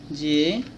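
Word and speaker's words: Z: এফ জি এইচ আই জে কে এল এম এন ও পি কিউ আর এস টি ইউ ভি ডব্লিউ এক্স ওয়াই জেড। এটাকে আমরা জেড বলি, British উচ্চারণ এরকম, আর আমেরিকায় জি বলে।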